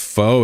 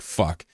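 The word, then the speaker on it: phở: Also, they pronounced fo as fu, which I didn't know. I didn't know that until actually like two days ago when my girlfriend said it. I was like, "Fuck, I should totally not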